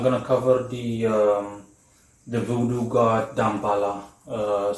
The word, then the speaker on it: Damballah: But when I pronounce it, Damballah, it's like I pronounce it with the H.